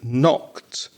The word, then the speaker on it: knocked: i know it and exactly the same silent word in knocked if you knock on the door come in you're knocking on the door that k is a silent k so it's to knock